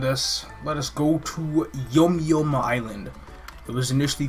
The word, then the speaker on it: Yum Yum: change the names of yom-yom became official unless it was just pronounced yum-yum the entire time but on the world